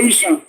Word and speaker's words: Esan: No, that the difference be say na just pronunciation. British, if you want to pronounce Esan, they will say Isha.